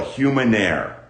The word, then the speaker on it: humanaire: planet earth called a humanaire rhymes with uh rhymes with mil uh sounds like millionaire or legionnaire got it you're gonna